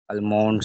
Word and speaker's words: almond: green vegetables, and milk, almonds. So Almonds. It is called almonds. yes, almond, No, L is not pronounced.